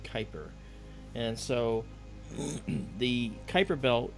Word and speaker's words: Kuiper: Okay, and it's pronounced Kuiper.